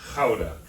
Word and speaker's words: Gouda: It's Gouda, as we call it, Gouda. But in the Netherlands, that's pronounced Gouda.